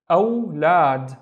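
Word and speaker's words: أولاد: Let's read the first syllable. This is the Hamza, remember? So this is a, aw, and then lad, lad. So again, remember, this is just la and alif. Lad, awlad, which means kids.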